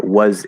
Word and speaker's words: was: i don't know uh was it it's gonna sound like the z spelled with an s it's a z it's going to sound